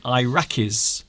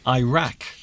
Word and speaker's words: Iraq: Like Iraqis. So Iraq as well. You might hear people say Iraq. Instead of, and we would say Iraq. Iraq. Iraq.